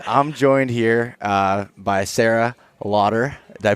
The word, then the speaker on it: Laughter: So anyways, I'm joined here by Sarah Lauder. Did I pronounce that Yeah.